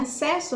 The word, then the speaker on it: acesso: tá então esse essa palavrinha acesso nós temos dois s mas na hora que a gente escuta a gente só percebe o som de um s então quê que acontece